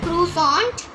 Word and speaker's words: croissant: This button is for croissant